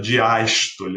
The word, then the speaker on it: diástole: E olha como a diástole é mais relaxada, porque a sílaba tônica é aberta, né? O fonema é aberto, a diástole. Olha como relaxa, diástole. Então, vê se você consegue